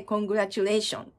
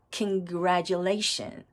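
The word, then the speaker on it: congratulation: んですけれども実際の発音はコングラチュレーションですここの tu はジっていう風に発音するんですラジですラレシグラシとなりますでこのグラのところと L のところにストレスが乗るんですねなのでタタン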